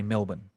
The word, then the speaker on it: Melbourne: in australia we say melbourne you know we don't pronounce our we say perth you know we don't pronounce the r but americans pronounce it so say say melbourne melbourne oh you said that